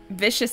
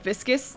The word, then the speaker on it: viscous: a red somewhat vist vicious liquid that's not how you pronounce that word viscous yeah there we go